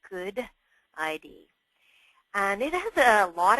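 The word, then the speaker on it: GUDID: It is pronounced Good ID.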